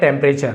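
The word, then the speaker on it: temperature: टेंपरेचर है ना? टेंपरेचर टी यू आर ई को चर पढ़ा जाता है। चर नेचर मॉइस्चर फ्यूचर है ना?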